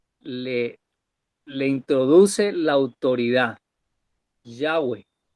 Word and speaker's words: Yahweh: le introduce la autoridad Yahweh en en hebreo se pronuncia ya Javi el Dios de sus